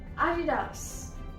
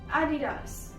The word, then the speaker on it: Adidas: This word is from America, so it is pronounced same everywhere. Nike, right. Moving on to another very famous shoe company, Adidas. Adidas.